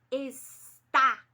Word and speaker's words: está: quando a gente fala a palavra está esse é bem aberta estarão é a mesma